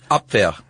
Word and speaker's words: Abwehr: Yeah, the Abwehr. I think that's how you pronounce it. You're the one who knows German. Abwehr.